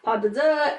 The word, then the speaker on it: pas de deux: So anyways, after the guests have paid their respects, then Aurora and Desiree, they dance this grand pas de deux, and Can you it's repeat just that?